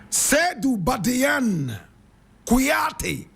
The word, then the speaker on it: Seydou Badiane Kouyaté: Seydou Badiane Kouyaté. Seydou Badiane Kouyaté. Seydou is spelled S-E-Y-D-O-U.